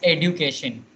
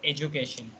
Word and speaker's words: education: If you will Google this, now you will get to know it's education, not education.